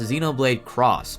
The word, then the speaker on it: Xenoblade X: is called Xenoblade X in Japan it's pronounced Xenoblade cross both X and cross